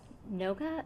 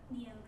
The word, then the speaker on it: Neoga: It took the form of a map of food sources in Noga. Is that am I pronouncing it right? Is it Noga? Neoga. Neoga. Thank you. Okay. So, it is phonetic.